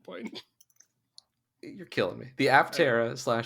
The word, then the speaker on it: Aptera: It's the Atera. It's the P is silent. It's pterodactyl. I don't think they say it like that. It's the P is silent. It means wing.